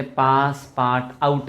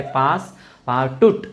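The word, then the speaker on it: Passepartout: आपण जर स्पेलिंग नीट बघितलं तर आपल्याला असं वाटेल ते पासपार्ट आऊट असेल. पासपार्ट आऊट असेल. ते पासपार्ट आऊट नाही तर ते पासपार्टूट असं ते नाव आहे, पासपार्टूट.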